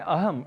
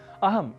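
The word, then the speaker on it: अहम्: अहम इस शब्द को अहम ऐसा कहना शुद्ध उच्चारण है, पर कुछ क्षेत्रगत प्रभाव हम भाषा पर ले आते हैं और अहम को अहम के रूप में बोल देते हैं और धड़ल्ले से बोलते ही जाते हैं।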